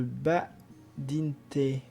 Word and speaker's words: Badinter: Analyse du discours de Badinter. Badinter? Badinter. Je vais le prononcer à la française.